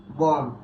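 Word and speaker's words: bomb: ঠুম, কি উচ্চারণ কি ঠুম, এটার উচ্চারণ কি বম, এটার উচ্চারণ কি লিম।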